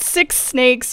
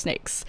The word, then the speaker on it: 6nakes: to actually pronounce it it's not six snakes or six snakes it's just snakes and they are the